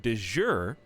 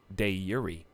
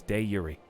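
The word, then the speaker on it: de jure: happy but no it's day Yuri stop that's how you say it we looked it up we found the Original Latin pronunciation it's de Yuri can we go back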